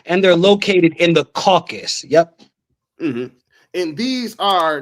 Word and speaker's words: Caucasus: No, it's pronounced Caucasus. Caucasus, yeah, I'm saying it, Caucasus.